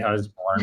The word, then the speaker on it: Usborne: I say Usborne. All right, I'm saying Usborne because I'm from America.